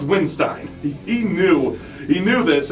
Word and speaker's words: Windstein: The hardcore kids showed up to throw down to Crowbar, and Weinstein Weinstein Windstein. It's It's pronounced Windstein.